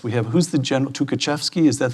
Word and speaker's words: Tukhachevsky: We have, who's the general, Tukhachevsky, is that how it's Yes, pronounced?